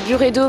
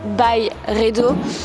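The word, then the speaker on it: Byredo: En fait, ça se prononce Buredo, mais on peut l'appeler By Redo.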